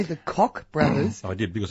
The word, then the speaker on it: Koch: The Koch brothers being the classic example of ways in which... Did you say the Koch brothers? I did, because that's the way it's pronounced in the United States.